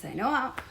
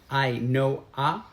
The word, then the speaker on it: Ainhoa: This is Ainhoa. Ainhoa. A lot of people ask us, how do you pronounce her name? Ainhoa. It's like I know her, Ainhoa.